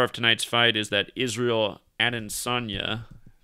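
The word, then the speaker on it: Israel Adesanya: tonight's fight is that israel and sonia that's how you say his name and he's getting the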